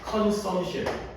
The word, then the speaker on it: consumption: P가 consumption P 발음을 강하게 안 해요. consumption P가 거의 안 들려요.